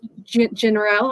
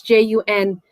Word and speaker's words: Junriel: But she was unavailable, so I had this guy, his name is General. I'm pronouncing it incorrectly. It's Junriel.